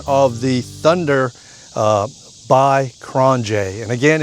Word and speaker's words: QRONGE: The review and operation of the Thunder uh by KronJ. And again, it's pronounced Kronj.